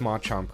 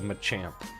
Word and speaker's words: Machamp: Now, there is a few things that I want to talk about with this Ma Chomp card or Machamp.